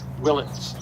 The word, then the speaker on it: Willits: And how do you pronounce it? Willits. Willits. Willits. Okay. Willits. I thought it was Willis.